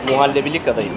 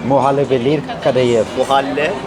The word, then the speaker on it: Muhallebili kadayıf: Muhallebili kadayıf. Muhallebelir kadayıf.